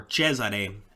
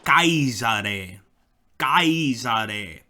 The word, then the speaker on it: Caesar: in Latin would be Ka kaar so like German Kaiser with an e at the end Kaiser um and this